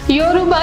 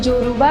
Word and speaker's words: योरूबा: योरूबा, जिसे उच्चारण में जोरूबा भी कहते हैं, अफ्रीका का एक आदिवासी समूह है जो पश्चिमी अफ्रीका में रहते हैं।